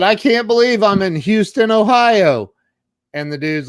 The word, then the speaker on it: Houston: So she lives in Houston, Texas, and there actually is a town in Ohio spelled exactly the same. And they pronounce it Houston. It is. Just like Houston Street in Greenwich Village.